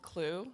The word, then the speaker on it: Qloo: So I did something called Clue, that's spelled QLOO, and basically what it does is it's sort of like Netflix and Spotify, but for everything.